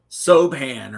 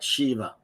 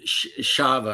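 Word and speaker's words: Siobhan: So, you think it's like Sohan or something, but they pronounce it like Shiva or Shava or something like that.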